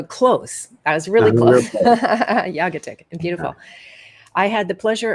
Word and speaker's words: Jagatic: Jagatic. Jagatic. So close. I was really close. Jagatic.